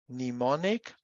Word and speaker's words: mnemonic: So these words are pronounced in English as psychology, Gnostic, and mnemonic, whereas in German, we pronounce them as Psychologie, Gnostisch, and mnemonisch, right?